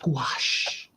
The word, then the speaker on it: gouache: Like, but gouache is spelled, and it's a French type of paint, but it's mostly spelled like gouache, but it's pronounced gouache.